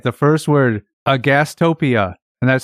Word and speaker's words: agastopia: The first word, agastopia, and that's spelled Agastopia. Agastopia. Okay, so it's spelled exactly as it sounds. Pretty much. Yeah. It's spelled phonetically.